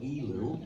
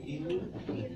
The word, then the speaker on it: Elul: And then in the last month of the Jewish year, I think it's called Elul. How do you say Elul?